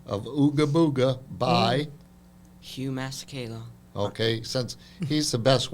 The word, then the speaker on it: Masekela: called The Americanization of Ooga Booga by, Hugh Masekela. okay, since he's the best one to pronounce it.